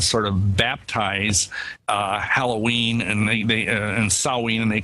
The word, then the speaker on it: Samhain: It's spelled Samhain, but we say it as Samhain.